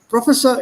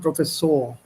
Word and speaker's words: Professor: Professor is English, auf Deutsch sagt man Professor.